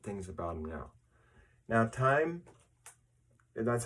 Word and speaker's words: TYME: hear more different things about them now now time and that's how that's how you pronounce it all right the last time we